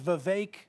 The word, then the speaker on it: Vivek: you get a lot it is Vivek like cake like cake you got it so